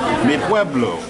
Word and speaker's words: Mi Pueblo: my Pueblo dinner finally officially know how to say the name of the restaurant me Pueblo I've got you good